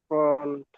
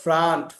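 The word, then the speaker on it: front: এটা উচ্চারণটা কি ফন্ট ফন্ট ফন্ট ফন্ট না এটা উচ্চারণ হল ফ্রন্ট ফ্রান্ট এটা উচ্চারণ হল ফ্রন্ট স্যার ফ্রান্ট কি জন্য হলো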